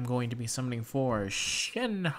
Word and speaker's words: Shenhe: Today I'm going to be summoning for Shenhe. I believe that is how you say her name, or at least that's how she said it on the character trailer.